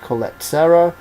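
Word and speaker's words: Collet-Serra: This one's directed by I think it's pronounced Jermaine Colette Serra, who did Run All Night with Liam Neeson and Unknown with Liam Neeson.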